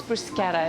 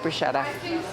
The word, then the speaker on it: bruschetta: have the CH it's bruschetta it's just the phonetics of Italian or you can tell